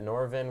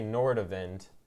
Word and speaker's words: Nordavind: that's a fun fact you don't say nor to vent you get rid of all the DS it's nor of it more than that's how you say her name yes just for a